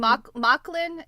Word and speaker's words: Mauchline: So LJ, and- Mocklin is spelled Mauchline. Right? Yeah, here it's hold on, I'll type it in here. It's Mocklin. Yeah. Steph and I thought it was Mocklin, but it's Mocklin.